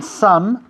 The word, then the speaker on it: some: Lo importante de some es cerrar la boca al acabar la palabra.